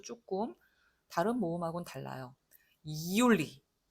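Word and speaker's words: Juli: 이올리 이렇게 약간 긁어준단 말이죠. 이올리 그냥 율리 하지 말고 이올리 이렇게 발음해 주세요.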